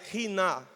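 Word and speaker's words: ἵνα: Para é uma expressão em grego que é pronunciada riná.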